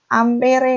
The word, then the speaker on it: ampere: Ampere nulisnya, tapi bacanya ampere.